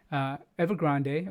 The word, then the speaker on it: Evergrande: the next slide here evergrande or evergrand however you want to pronounce it it's been reported